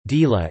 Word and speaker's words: Gela: Gela, Italian pronunciation, Gela, Ancient Greek, Gela is a city and commune